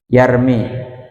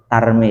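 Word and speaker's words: يرمي: Tarmi ya. Iya. Apa enggak? Biasanya kalian bacanya tarmi apa yarmi. Hah? Ta biasanya ya. Itu sing benar pakai ya ya.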